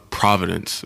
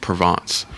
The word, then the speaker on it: Provence: to call i used to pronounce it uh providence but it's pronounced provence um but it's like it's it's very similar